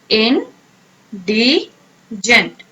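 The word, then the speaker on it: indigent: अब आप इसे प्रोनाउंस कैसे कैसे करेंगे, इन डी एंड जेंट, okay, in डी जेंट, pronounce करें आप।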